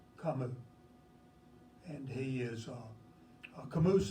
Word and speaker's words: Camus: name, it is pronounced, his French pronunciation of his first name would be Albert, and his second name is pronounced Camus. Camus.